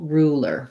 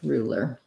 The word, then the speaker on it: ruler: word rue or rue whereas ruler because there's a vowel in the middle um or because there's two syllables and not one then i end up with rue lure and i don't have any um glide because um the l goes on on this er syllable ruler ruler i do think